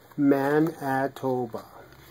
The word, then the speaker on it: Manitoba: Manitoba.